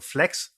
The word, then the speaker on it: FLKS: It's called Flex. Mm. Because my family name is. That's how they pronounce it in Germany.